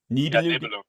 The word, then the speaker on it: Nibelungen: Am I pronouncing that correctly? Nibelungen.